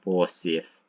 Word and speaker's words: Forsyth: So when you go to Forsyth, I think that, yeah, actually it's pronounced Forsyth, Montana, you know that it was named after the guy who killed all those Indians in Wounded Knee.